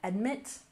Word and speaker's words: admit: Admit, emphasis on the second syllable.